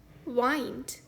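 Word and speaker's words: wind: हवा का natural movement इस शब्द का दूसरा उच्चारण है वाइंड यानी कि मोड़ना या लपेटना फॉर एग्जांपल द विंड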